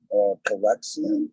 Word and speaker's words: Calyxeum: Calyxeum.